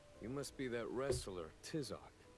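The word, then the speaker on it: Tizoc: Judging by that mask, you must be that wrestler, Tisok. I hate how they make them pronounce Tizok.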